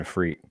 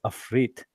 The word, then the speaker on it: afrit: you guys are pronouncing a freak. Oh, right. Well, you call it whatever. Depends what comes in what area. No, there's only one way to say it. I mean, technically it's afrit, but yeah, but then